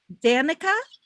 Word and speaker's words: Danica: never least okay um can you tell me how you pronounce your name because i'm going to pronounce it italian and i don't think that's what it is danica yes that is correct tell us about tell